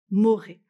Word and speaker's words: morae: Et là, on retrouve l'écho clamat amat et amoré, morae, mais qu'on prononce moré.